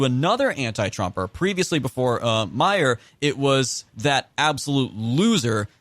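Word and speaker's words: Meijer: who ultimately peter meyer however his name is pronounced i was calling a major up to this point it's meyer because he's actually named after the supermarket chain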